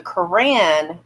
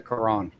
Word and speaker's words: Quran: jesus you have the koran which is the muslim bible no you mean the quran yeah the quran quran on the it's spelled with an o but my accent is a sorry from oklahoma too